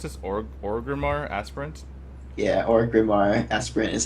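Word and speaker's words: Orgrimmar Aspirant: do you pronounce this or orar aspirant yeah orar aspirant is how I pronounce it all right pronouncing it bad pronouncing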